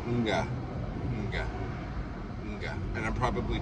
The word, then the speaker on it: mga: And it's not ga, it's nga, nga.